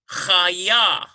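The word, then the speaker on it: חיה: Number 5, we have chaya. Chaya, C-H-A-Y-Y-A-H. Chaya. So yes, we have a doubling here on the yod. We've got 2 Y sounds.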